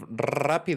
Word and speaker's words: rápido: So if rápido is vibrate your tongue, because that is how you roll your R.